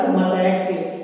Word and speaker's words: मतैक: निर्मित हुआ, ए, मतैक, इसका उच्चारण होगा मतैक, यानी ए का उच्चारण होगा।